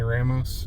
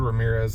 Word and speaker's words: Ramos: Anthony Ramos. Yeah. I said Ramirez. I thought his last name was Ramirez, but it's not.